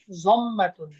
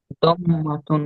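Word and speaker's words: ضمة: এই পেশকে বলা হয় জম্মাতুন। কি বলা হয়? জম্মাতুন বা জম্মা। এইযে এটা দম্মাতুন হ্যাঁ পেশকে বলা হয় জম্মা হ্যাঁ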